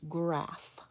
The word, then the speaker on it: graph: so graph gra ah the ph is making the f sound so we have a